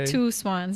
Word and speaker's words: Teauxswanx: It's pronounced Two Swans, but it's spelled like really weird. Like it's a weird spelling. It's like TEAUXSWANX.